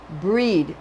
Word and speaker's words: Brigid: of names you should pronounce grid or bride as breed and not to rhyme it and not to rhyme with hide as it has been somewhat harshly anglicized for example in London's